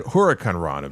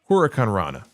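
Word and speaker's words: huracanrana: Yeah, no, Tawab, I said Huracan Rana because that's actually the way you're supposed to pronounce it. Huracan Rana. It's not H-O, it's H-U.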